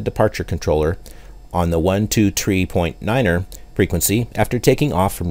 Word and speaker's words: nine: Niner frequency after taking off from Runway 8 notice that three is pronounced tree and nine is pronounced Niner in aviation the pilot of American